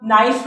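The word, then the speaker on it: knife: और इसी तरह नाइफ में होता है, नाइफ थोड़ी कहते हैं, नाइफ, राइट।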